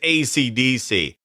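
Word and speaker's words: ACDSee: and the others is AC DC that's acd-se-e not spelled like the rock band and there's no cool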